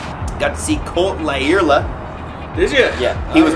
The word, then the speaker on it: Lyerla: I walked up and I said, because I've heard it pronounced all different ways. He says, "Lyerla."